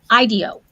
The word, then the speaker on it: IDEO: Okay, and as far as the pronunciation, they said they say IDEO. So, which that's better because that's like idea, right?